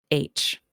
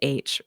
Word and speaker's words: Aitch: start with a little town called h and not the letter h it's said h but it's spelled a-i-t-c-h okay formally located in